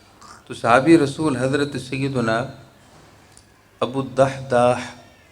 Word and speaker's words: ابو الدحداح: تو صحابی رسول حضرت سیدنا ابو الدحداح، اس کی سپیلنگ آپ سماعت فرما لیں، ابو الدحداح صحابی ہیں، دال الف ہا اور دال اور ہا۔ انہوں نے بارگاہ رسالت